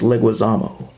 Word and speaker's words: Leguizamo: And for the last time, it's Leguizamo. Yeah, I know. I have a bad time mispronouncing it.